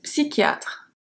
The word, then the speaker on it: psychiatre: Une psychiatre. Une psychiatre. This is not the easiest sound to pronounce.